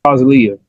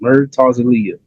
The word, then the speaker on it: Murtazaliev: Murtazaliev. I did not want this episode to go by, and I did not pronounce his name right. Murtazaliev.